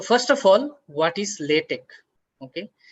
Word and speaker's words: LaTeX: Okay, it's written as latex but it is pronounced as latte.